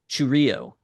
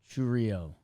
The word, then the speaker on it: Chourio: It's when I according to the baseball reference pronunciation, it is Chourio. Chourio, like Yeah. chew. Like we're emphasis on chew.